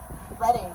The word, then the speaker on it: Reading: How do we pronounce this? Reading.